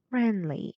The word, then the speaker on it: friendly: Well, the stressed syllable is friend, which has the air sound of unit 3, Friendly, louder and longer.